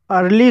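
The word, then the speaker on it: early: अर्ली शब्द ई ए से शुरू हुआ है लेकिन अर्ली शब्द में ई ए के बाद आर आया है और यहाँ पर ई ए का उच्चारण आ हुआ है।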